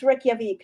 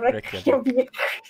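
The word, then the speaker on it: Reykjavík: Think about how the capital of Iceland is named. It's Reykjavik, not Reykjavik. Sorry, how was that pronounced, Meowth?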